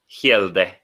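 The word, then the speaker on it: Hjelde: Incomings before the deadline, Leo Helder? Hegelder. How do you say it, Rob? Hielde. There you go.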